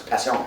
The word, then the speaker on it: Passion: If you pronounce it French, it's Passion.